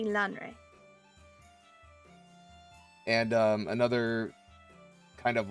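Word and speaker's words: Lanre: I think it said Lanray in the audiobook. Lanray. Okay, this is another reason why I need you to correct me on my bad pronunciations. Well, the audiobooks themselves can have errors in them, but it's been consistently Lanray.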